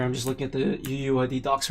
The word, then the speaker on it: UUID: me though uuid yeah i've heard some people say you it before but i've just always said uuid well let's see okay